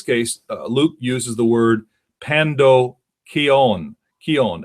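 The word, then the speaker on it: pandokheion: and the story of the Good Samaritan is Pando Keon so it's spelled p-a-n-d-o-k-h-e-i-o-n that was the normal word for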